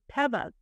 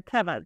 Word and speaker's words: Teva: We hear a lot of Corteva because people wear sandals that are called Tevas, which we're all saying it wrong. It's Tevas. They're Tevas. Teva.